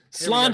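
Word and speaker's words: Sláinte: Patrick's Day right now yeah home and drink Sloan Cheers that's how you say cheers in Ireland Slainte cheerio that's because it's Irish it's spelled like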